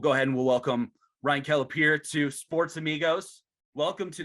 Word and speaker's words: Kelapire: But we'll go ahead and we'll welcome Ryan Kelapire to Sports Amigos. Welcome to this groundbreaking edition, Ryan. Thanks for having me.